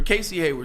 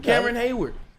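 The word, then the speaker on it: Cameron Heyward: Or Casey Hayward, excuse me. It's not Casey, but Cameron. I said it right his first name. Cameron Hayward, one of the best defensive interiors.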